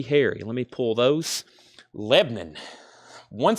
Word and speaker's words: Lebanon: from Lebanon Tennessee or if you're local we call it Lebanon one syllable Lebanon in Tennessee what